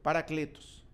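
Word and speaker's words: παράκλητος: grego da palavra grega paracletus paracletus querer pronúncia no grego paracletos que significa paracletos quando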